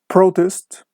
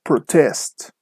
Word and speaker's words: protest: weight is just here with nouns the stress is on the first syllable so from all the previous words that we mentioned before if we put the stress on the first syllable we are talking about a noun I think now with birds and also for adjectives the stress is on the second syllable so if you hear something like protest or insult we are talking about a birth or an adjective so with this classification